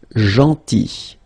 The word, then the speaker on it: gentil: So remember this final L is not pronounced. Gentil, gentil, and it's nice or kind.